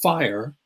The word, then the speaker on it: FHIR: And the big software vehicle for moving things around is called FHIR, and that is pronounced fire.